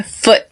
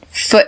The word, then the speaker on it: foot: notice how I say foot in foot and foot and mouth foot and mouth disease right so I do not pronounce that T at the end of foot foot on to the